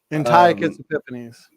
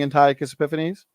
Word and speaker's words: Antiochus Epiphanes: How do you pronounce his name? Antiochus Epiphanes.